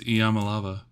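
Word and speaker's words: Iamaleava: It's Yamalava.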